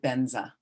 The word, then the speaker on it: Vajra: Or if it's the beginning of a word, like Vajra, they pronounced it Benza because they didn't have the V. So both are fine like that.